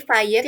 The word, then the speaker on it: FHIR: Di FIRE yang cara bacanya seperti fire, api dalam bahasa Inggris, merupakan singkatan dari Fast, Healthcare, Interoperability, Resources.